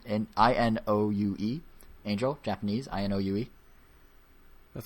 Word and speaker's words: Inoue: Inoue. Inoue. Angel. Japanese. Inoue. That sounds right. Inoue. Well, that's the spelling. Inoue. Osamu Inoue. Okay. Pronounce it like you would in Spanish.